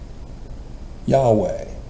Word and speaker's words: Yahweh: completed his birth is given the new name Yahweh you know it is Jehovah it's not Jehovah